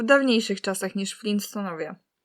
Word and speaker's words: Flintstonowie: co w każdym razie Flinstonowie to nie są Flinstonowie tylko Flintstonowie także wymowa jest tak